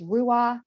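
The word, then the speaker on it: ruach: it could be relaxed my word is rua which is an ancient hebrew word for breath i like the two syllables because i could do roo in my in breath and ah and my out breath whatever word or phrase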